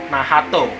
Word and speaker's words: Nacht: Kapten blackpool tersebut dan dia bernama nafs atau kalau pengucapan Jepangnya nahato ya jadi sinar sini sudah